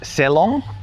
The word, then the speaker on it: Selong: And he said, "Selong." So, that is like a long e on the first word and then bel anak on the second word.